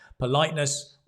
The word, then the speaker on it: politeness: So politeness is the noun, politeness, and that stress goes on the light, right? I'll just try and make it a bit clearer for you. Politeness. And we have the plosive P. It's a P, P.